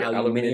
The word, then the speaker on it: aluminium: Like, Well, like that's what one of my favorite words is aluminum because the way the British say it is Dude, aluminium.